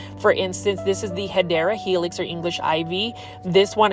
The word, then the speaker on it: Hedera Helix: For instance, this is the Hedera Helix, or English Ivy. This one is the Sterling Ivy. And for those that are new to the channel, I mispronounce Hedera Helix as Hydra Helix because it is a plant foldy inside joke.